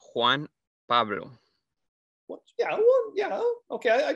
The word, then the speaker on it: Juan Pablo: that's not your name so how do you say it's juan pablo what yeah yeah okay